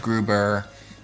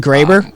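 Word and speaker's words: Graeber: other ones who are oh you mean you mean graber isn't david graber yes thank you i said his last name wrong he can go [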